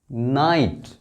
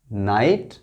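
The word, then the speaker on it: night: हैं आपको यह है नाइट यहां जी और एच साइलेंट है जी और एच साइलेंट है नाइट फाइट राइट टाइट लाइट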